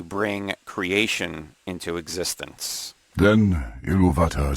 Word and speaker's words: Ilúvatar: going to hear, you'll hear the narrator say Ilúvatar, or some people pronounce it Ilúvatar, which is the name of the one god in Tolkien's mythology, sometimes called Eru.